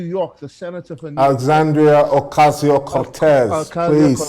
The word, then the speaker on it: Alexandria Ocasio-Cortez: And I remember Alexander Cortez in New York, the senator for New Alexandria Ocasio-Cortez.